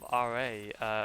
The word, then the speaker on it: Ra: So are those like technically rare then in that case?